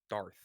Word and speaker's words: Darth: So say dark, but instead of k, it's th. Darth.